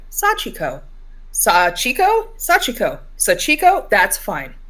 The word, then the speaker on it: Sachiko: wrote above the Sachiko, I tried to create a phonetic pronunciation guide with a SAW, SAW, dash, CHEE, dash, KOH, Sachiko.